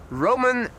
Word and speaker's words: roman: Roman pronounced in the Dutch way.